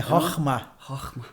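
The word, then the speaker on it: חכמה: Eu queria que você me ensinasse a pronúncia. É Chokhmah.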